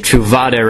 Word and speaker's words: Truvada: The way Big Ben pronounced it, Truvada rhymed with tostada.